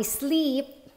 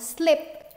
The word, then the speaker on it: sleep: mountain, instead of saying, I sleep, pag sinabi mong slip, para mong sinabing, hindi ka natutulog sa bundok, kundi nadulas ka. Nadulas ka sa bundok. Kaya guys, importante, enunciate natin, enunciate, meaning to say, bigkasin natin ng tama ang long E sound at ang short I sound.